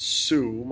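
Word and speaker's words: صوم: is fasting and it's i believe it's pronounced sum although i might be mispronouncing that so for fasting muslims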